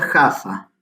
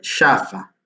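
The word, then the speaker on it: Jaffa: ir a tierra santa no se pronuncia ja fa se pronuncia chafa de paso que por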